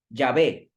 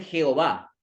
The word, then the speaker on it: Yahvé: ¿Cómo se lee esto al español? Esto al español se escribe así, que seguramente ustedes deben haberlo escuchado muchas veces. Yahvé. Los protestantes lo traducen mal. Ellos le dicen Jehová. Jehová no es una traducción correcta.